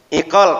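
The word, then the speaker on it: عقال: Egal atau bukan? Betul? Ini berasal dari iqal, kata orang Arab. Iqal itu kalau orang Saudi bacanya egal. Karena qaf dibaca ghain.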